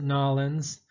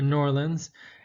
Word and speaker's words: New Orleans: One of the things that New Orleans, and some people pronounce it Nolans, or Norlands, is best known for is jazz.